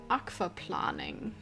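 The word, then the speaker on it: Aquaplaning: Yeah, in German you pronounce it aquaf planning in case anyone ever wondered.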